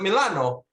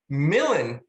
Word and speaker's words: Milan: all know that and a lot of us might know that the italians call it milano but for the shake to make it scan it has to be pronounced millen and any time anyone said